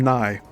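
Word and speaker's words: Nigh: Griffith, and My 4 Years in Germany by William Nye, and that's spelled N-I-G-H.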